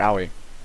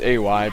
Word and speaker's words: Aui: And that's going to be a very slow start for Oi. You know, I know it's supposed to be pronounced Aui, but it's it's so much easier to say Oi.